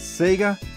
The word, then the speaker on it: Sega: We pronounce it as Sega.